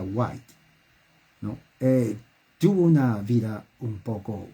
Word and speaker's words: White: esta mujer en l qué guay se pronuncia white tuvo una vida un